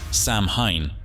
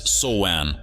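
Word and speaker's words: Samhain: all his linguistic skills confidently pronounces it as Sam Hine for those who are not linguists it's soan close but no cigar do it's just a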